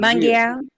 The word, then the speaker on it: Munguia: Munguia, No, he don't want that at all.